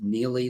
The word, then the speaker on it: Neillie: they'll get my monthly blog otherwise it's just nearly leadership you pronounced it correctly my last name is spelled